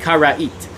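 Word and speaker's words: Karaite: carried ism you know the word care right in English is spelled kar Aite so if you want you could vocalize that to sound like Cara eat so for anyone that knows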